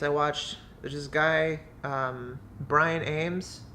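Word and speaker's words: Ambs: watched this guy Brian Ames it's got cool last name it's a MBs but it's pronounced Ames I just think that's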